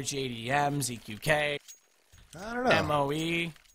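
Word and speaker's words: Moe: M-O-E, or at least that's pronounced Mo.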